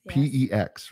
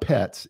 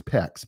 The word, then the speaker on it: PEX: PEX, right? Mm-hmm. Yeah. It's that we didn't pronounce it wrong. It's not pets. It's PEX, PEX.